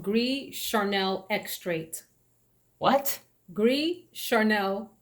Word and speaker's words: Gris: It's called Gris, Gris, but you don't pronounce the S. Gris Charnel.